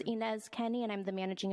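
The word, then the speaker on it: Ines: you state your name for the sure it's inz Kenny and I'm the managing attorney of the Fitchburg office for community legal aid what's your first name it's inz it's spelled I NES and last name is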